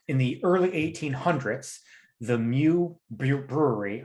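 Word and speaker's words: Meux: the early 1800s the mu brewery i don't even know if we're pronouncing that right m-e-u-x mu muix mu was one of the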